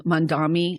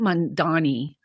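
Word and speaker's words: Mamdani: Mandami. How do you say his name? Mandani.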